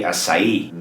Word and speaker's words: açaí: It's gotta be acai. The emphasis on the last syllable, which is the E sound, right?